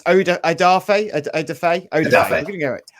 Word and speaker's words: Odafe Oweh: original pick oda uh i probably i've it's odafa oh formally for all your fans but watch the